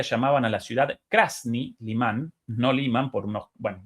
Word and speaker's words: Limán: indirecto de Rusia conquistan Liman. Limán, perdón, esa la pronunciación correcta en ruso.